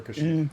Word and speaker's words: Kashyyyk: Correct, from Kashyyyk. Okay. Or Kashyyyk, depending on how you decide to pronounce it.